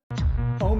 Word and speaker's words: Om: Om is composed of 3 syllables. Ah, oo, and And begin.